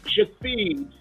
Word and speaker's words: Shithead: And the young man said, Shafid. Shafid. Really? That's the name. But it's written Shithhead.